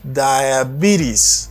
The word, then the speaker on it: diabetes: Ça pour connaître que S la prononcer à cause, on va mettre là pour. Diabetes. Et puis ça, prononcer comme I. Ou dit B. Diabetes. Diabetes, sous prononcer T tant qu'on dit rapide, même les Américains ont fait, on dit diabetes.